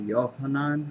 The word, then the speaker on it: Yohanan: John, or I think as you pronounce it in Hebrew, Yohanan, or something like that.